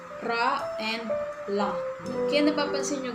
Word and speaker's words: ㄹ: Pag nasa unahan siya, ang bigkas dyan, R. Ra. rareri, roru, ra.